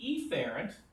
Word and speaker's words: efferent: Now, you need to understand the efferent, I pronounce E loudly to make sure you understand it starts with an E.